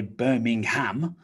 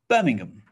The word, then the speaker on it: Birmingham: this okay birmingham birmingham so you might want to say birmingham but we don't really say ham it reduces down to um um so birmingham birmingham so you may